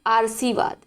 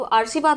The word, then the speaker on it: आशीर्वाद: क्या लिख देते हैं, वो लिख देते हैं आशीर्वाद, ठीक है। यानी कि ये आप पे होगा तभी तो उड़ के सा पे लगा, तो उच्चारण तो इस पे होना चाहिए, तो आशीर्वाद हो जाएगा, लेकिन ये गलत है। सही क्या होता है, आशीर्वाद। तो बड़ा आ, बड़ी सी, सा